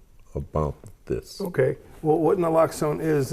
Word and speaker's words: Naloxone: Naloxone. Naloxone.